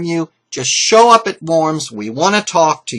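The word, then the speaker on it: Worms: at the city of forms and I am pronouncing this correct and W's in German are pronounced as V's okay Luther was assured safe passage to and from forms okay so they said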